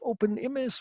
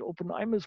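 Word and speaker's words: openIMIS: what is openms um we call it open image with an e although you might want to spell it open imus but we have voted we want to call with open image because in kiswahili you would also read it open images of course it's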